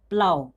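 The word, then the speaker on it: plough: जैसे कि यहाँ पे पी एल ओ यू जी एच, क्या है, प्लाव, प्लाव कैसे लिखते हैं,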